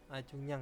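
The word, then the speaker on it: 중량: Terus ada mugerel jeta, yaitu mengukur berat atau jengyangel cekcong ada mengukur jungnyang itu jungyang ya bacanya.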